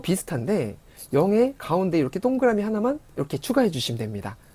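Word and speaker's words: ห้า: 하 하고 발음했고요.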